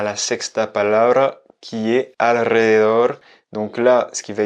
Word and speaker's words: alrededor: Donc là, ce qui va être difficile, c'est qu'il y a deux R et qu'il y a notamment LR, un L et un R qui se suivent et un R final et c'est vraiment pas facile à prononcer. Donc il faut dire alrededor, alrededor. Il faut arriver à mélanger à ce L qui est d'abord prononcé et enchaîner sur le R.